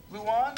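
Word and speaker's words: Luahn: Why did you name this restaurant Luan? Luan, which is spelled L-U-A-H-N.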